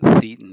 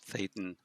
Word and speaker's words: thetan: for spirit is thetan it's not thetan it's thetan rhymes with Satan uh so uh well